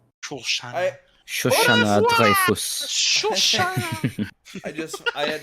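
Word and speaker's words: Shosanna: You have to say it with a French accent. Shoshana.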